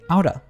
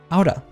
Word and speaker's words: out of: That means that the T sound in out becomes a soft D sound. When put together with the reduction of, it sounds like outa, outa.